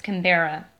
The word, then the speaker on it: Canberra: I don't know how to pronounce stuff. Sydney, Melbourne, or Canberra? It's Canberra.